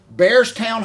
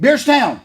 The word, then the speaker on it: Beardstown: Bears, I know I'm not pronouncing it right, Bearstown High School. But listen to me. Guess what they just Beardstown? did? Beardstown.